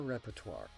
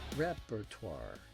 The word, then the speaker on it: repertoire: They performed songs from their entire repertoire. Notice the pronunciation. repertoire Not repertoire.